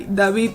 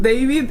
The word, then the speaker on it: David: This is Hide by David Lozano. Quick side note, in Spanish it's not David, it's David.